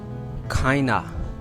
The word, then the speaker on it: kind of: The word is kind of. Kinda. This word in the real pronunciation is kinda.